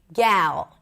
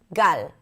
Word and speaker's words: Gal: This is why a lot of English speakers say gal instead of gal or sometimes they might say gal. So the g sound is the same. Great check. And then we have the h sound in Hebrew. Ah, very simple. Actually, it's closer to the uh as in cup in American English. Uh, so the beginning of the word gal actually sounds like gut. I have a gut feeling, right?